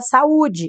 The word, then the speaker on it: saúde: Qual a sílaba tônica? Essa é uma paroxítona. Uai, Jana, mas termina em E. Não acentuam-se as paroxítonas terminadas em E. Por que essa é acentuada? Pela regra do hiato.